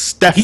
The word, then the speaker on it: Stephen: His name is pronounced Stefan.